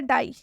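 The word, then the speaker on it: die: पहला एग्जांपल क्या है डाई ठीक है डाई के अंत में आई और ई है तो इस आई और ई का उच्चारण आ और ई से होगा डी आई ई अंत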